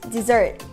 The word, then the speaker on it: dessert: In terms of pronunciation, dessert is pronounced dɪˈzɜːrt, the stress is on the second syllable.